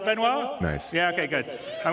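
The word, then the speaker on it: Benoît: CTO benoir bezer did I say it right benoir nice yeah okay good I'm always bad with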